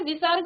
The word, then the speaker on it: विसर्ग: इसमें आपने विसर्ग और आगत ध्वनि के बारे में सीखा। तो विसर्ग आप जानते हैं, इसका उच्चारण आधा ह की तरह किया जाता है, और जैसे यहाँ पर अतः, प्रातः, स्वतः, प्रायः, सनेह, इस प्रकार से।